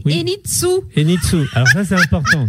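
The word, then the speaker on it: Henintsoa: Oui, ça ne se prononce pas o a mais enitsou.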